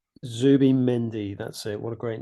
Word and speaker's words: Zubimendi: Can I pronounce his name? Zubimendi. Zubimendi.